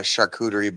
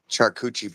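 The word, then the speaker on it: charcuterie: But they Yes, but they were uh they were mispronouncing it. Instead of calling it a a shakuerie board, they were calling it a shuchi board.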